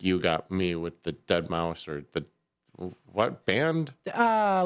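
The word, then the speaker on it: deadmau5: If I see that I'm like dead mau five. Wow. That's how I used to pronounce it.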